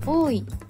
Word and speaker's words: 多い: です送り釜の飯をつけて多いと読みますエンディング一種多い目薄め